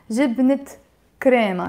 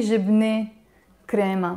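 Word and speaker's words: جبنة كريما: together, jibnet, hi Freddy, when I'm saying the two words together, I don't say jibne crema. Why? Because the word jibne, as you can see here on the box, you see it has a te marbuta. I don't know if you see in the right direction. So this is a te marbuta basically. So this te marbuta is usually silent, like the word jibne,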